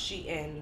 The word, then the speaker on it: Shein: I just found out it's pronounced Shein, not Sheen. I've been saying Sheen. It's called Shein.